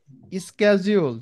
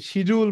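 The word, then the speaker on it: schedule: এর ভিতর হচ্ছে কি লিড ফর্ম সাবমিশনের জন্য ইনহান্স কনভার্সন ট্র্যাকিং করা যায় স্ক্যাজুয়াল, যেটাকে কি শিডিউল বলি আমরা, বাট ওটার সঠিক উচ্চারণ হচ্ছে স্ক্যাজুয়াল। শিডিউল, মিটিং শিডিউল, ঠিক আছে,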